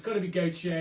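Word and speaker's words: Gotye: That was Gautier, G-O-T-Y-E, but if you spelt it phonetically, that's fine. So Gautier, someone I used to know, and the Proclaimers with I Would Walk, brackets 500 miles.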